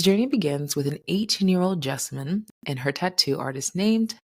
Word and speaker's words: Jessamyn: My name is Jessamyn, and I am the host of Specimen the Sociologist. I tend to tell folks that my name rhymes with specimen, but with a J.